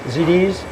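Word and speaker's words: ZD's Meats: How do you pronounce MD's Meats? ZD's.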